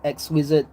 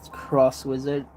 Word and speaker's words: Cross Wizard: X Wizard, 10 Wizard, blah blah blah, but it is Cross Wizard.